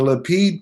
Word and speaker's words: Lapid: And the Lapid party, is that right pronunciation?